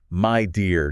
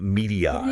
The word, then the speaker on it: Midea: And they're doing it all while subtly reminding us how to pronounce their name correctly. Right. My dear, not Midea.